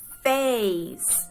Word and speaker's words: face: y la otra sílaba con la E que no se pronuncia, como por ejemplo face, ¿vale?